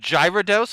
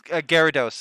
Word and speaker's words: Gyarados: pronunciation i think it's gyarados is the official pronunciation um but i just i wasn't looking that close then it looks like gyro at the start so i was like gyro that's totally fair uh